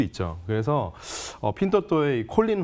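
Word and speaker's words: Pinduoduo: 핀또또. P-I-N-D-U-O-D-U-O. 핀또또 발음은 어렵지만 미국 나스닥 상장돼 있는데 상장돼 있는 이름도 핀또또입니다.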